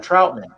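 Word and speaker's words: Trautman: draft capital to get Adam Troutman, rhymes with Broutman.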